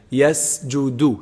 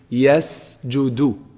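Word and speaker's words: يسجد: Leahy yes you do make sure it's pronounced seen in this word like sajda yes you do he makes sujood okay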